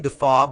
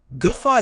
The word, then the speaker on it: guffaw: of laughter remember uh gofa is not a subtle or polite laugh it's loud sudden and often uncontrollable another error is mispronunciation ensure you stress the second syllable G not g fa